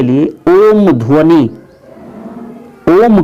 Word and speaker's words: ओम: ओम मंत्र का जाप, इसमें तीनों अक्षरों अ, ओ, म की ध्वनि का स्पष्ट उच्चारण होना चाहिए।